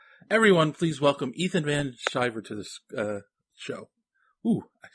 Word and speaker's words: Van Sciver: they're afraid to make that C hard, like Sciver. They go Sciver, and Sciver. So, hello. Yeah, well, I mean, that's, I think it's the Anglo-Saxon in me that wants it to be a soft C.